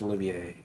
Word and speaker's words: Olivier: It's Oliver with an extra I, so it's either Olivier or Olivier, maybe. If it's pronounced French, it's pronounced Olivier.